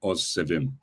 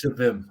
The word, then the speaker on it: Ozsevim: The trick is to split it up, so it's like Ozsevim, three syllables. Ozsevim.